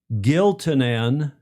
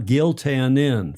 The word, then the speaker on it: Giltinan: Giltinan. Giltinan. Not Giltinan. Thanks, Alister Murray, my professor of Australian English.